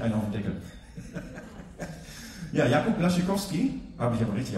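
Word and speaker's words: Jakub Błaszczykowski: Ja, Jakub Blaschikowski habe ich aber richtig ausgesprochen.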